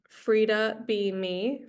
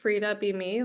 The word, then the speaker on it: Frida Be Me: an upcoming retreat called Frida Be Me, Frida Be Me, like free to be me. But it's spelled like Frida Kahlo because she really inspired me when I went to visit her in Mexico City.